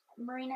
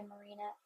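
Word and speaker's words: Mirena: Marina is, I think, how you pronounce it.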